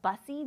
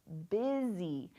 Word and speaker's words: busy: That doesn't mean, that's not bussy, that's busy. And so even though it looks like it should say bussy, the word is busy, busy.